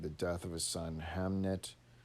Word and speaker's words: Hamnet: death of his son hamnet a name which he probably pronounced as amlet was a green memory